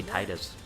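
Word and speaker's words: Tidus: Obviously, you've seen Selphie and, I'm gonna get his name wrong to some people and really make some people angry. I say Titus.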